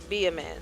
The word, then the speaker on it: Bayman: So it's Bayman. It's seen as Bayman, but it's pronounced as Be a Man.